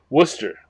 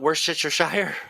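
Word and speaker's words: Worcestershire: Worcester. You say Worcester. That's how that's that's how it's actually pronounced. But yes, not worshshire.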